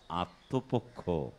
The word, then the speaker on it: আত্মপক্ষ: না এটি পক্ষ আর এই ত এর সাথে ম ফলা যুক্ত হলে ত টাকে একটি নাসিক্য ধ্বনি দিয়ে উচ্চারণ করতে হবে আত্ম আত্মপক্ষ রক্ষা রক্ষা বিপদে মোরে